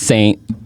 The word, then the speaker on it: St: It's just st ST pronounce saint. Spell st.